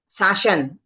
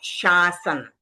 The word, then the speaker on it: शासन: शासन ऐसे बोल देते हैं। जबकि वर्ड है शासन। शासन यानी किसी के ऊपर रूल करना। और शासन यानी रॉन्ग हो गया। तो हमको ध्यान रखना है पहले श है शरीर वाला। फिर ससा सामयिक वाला है। और ये न है ण नहीं है।